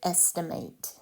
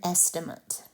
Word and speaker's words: estimate: If you're using it as a verb, you would pronounce it estimate. It's an action. If you're using it as a noun, it is an estimate, a thing. And an estimate is an approximation of an amount or an answer.